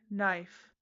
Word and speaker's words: knife: People just say, "knife." Excuse me? That K was there before the N. Therefore, beginning immediately, Coffee Cat Radio will pronounce every letter according to the principle, "If you turn up, you get to speak." So, from now on, it's a k-nife.